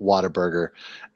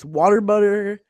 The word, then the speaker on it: Whataburger: And says something about Whataburger.